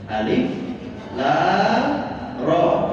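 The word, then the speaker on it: الر: Alif lam ro. Ro-nya dua harokat karena tidak memiliki akhiran huruf ya. Huruf yang disukunkan.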